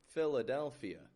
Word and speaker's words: Philadelphia: And remember, PH makes a F sound in spoken English. Philadelphia.